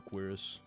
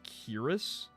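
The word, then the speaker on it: cuirass: Give me the Quirus. Some people get mad when I say Quirus and say that it's Cirus. I've always said Quiris. Quoras. I think that's a an acceptable pronunciation.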